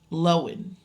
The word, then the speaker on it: Lohan: Irish wish with the one and only Lindsay loen that's how you pronounce is it loen I I will continue to call her Lindsay Lohan and you can Cy that pronunciation out of